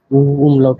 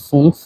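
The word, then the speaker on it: fünf: পাঁচের এখানে উমলাউট আছে আচ্ছা পাঁচ কে বলা হয় ফুংসলাউট আছে এখানে এরপরে ছয় কে বলা হয় জেক্স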